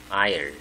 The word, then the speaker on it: aisle: 이거 스펠이 발음이 조금 발음을 조심해야 되죠. S가 발음이 나지 않죠. Isle 이렇게 부릅니다.